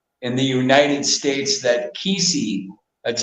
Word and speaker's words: Kisii: In fact, the probably the number one state in the United States that Kisii, that's how you pronounce it, Kisii people go to Minnesota, is